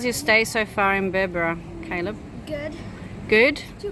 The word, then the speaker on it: Berbera: um so we've had a night here in berbera did i say it right yeah yeah yeah